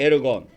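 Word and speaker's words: ἔργον: 헬라어로 헤르고 에르곤이라 그래. 에르건 엘건이라고도 발음하고 에르곤이라고도 발음 합니다.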